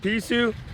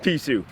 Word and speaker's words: Pisew: So, Google pronounces it Pisew, locals pronounce it Pisew. When in Rome, we're going with Pisew.